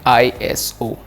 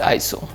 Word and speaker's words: ISO: So, it is not pronounced as Eye-es-o. It is just eye-so.